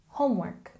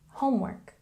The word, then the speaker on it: homework: And again, a stress on the first syllable, homework, homework.